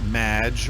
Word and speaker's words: Maginot: have mispronounced my name its Maj which rhymes with badge as in duh and no as in more than you imagine Oh anyway thank you